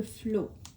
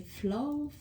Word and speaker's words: flow: Je le prononce probablement mal. Moi, mon accent en anglais, il est il est très mauvais. C'est flow.